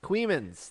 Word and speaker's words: Coeymans: You know how Queemans is spelled? Coey. Queefins. Queemans. That's a real place.